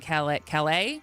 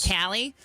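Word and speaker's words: Callais: And I wanted to stay on Louisiana and Calais. Is that how you pronounce it? Yes. Not Cali. Right. It's French.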